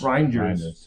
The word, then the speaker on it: Reijnders: Reijnders? Rijnders.